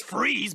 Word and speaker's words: Fries: to please forgot since fries but you spell it fries like french fries weird it's German it took me six years